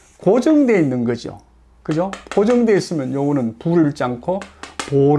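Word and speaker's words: 父: 이 분 의 이름 은 'Fu' 라는 한자로 쓰지만 'Bo' 라고 읽습니다 . 'Fu' 로 읽으면 아버지 라는 뜻 이지만 , 명사로 쓸 때 는 보통 'Bo' 로 읽습니다 .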